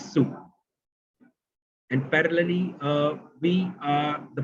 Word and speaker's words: Sault: But parallelly, if I talk about, we don't call it as an SALT or SALT. So we call it as a pronunciation of the college is SU.